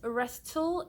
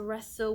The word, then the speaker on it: wrestle: I'm sharing with you it isn't a rest til it is a wrestle we wrestle not against